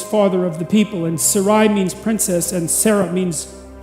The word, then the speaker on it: Sarai: don't know how to say that it's Sarai to begin with yes is that right Sarai yes okay and then it's Sarah and that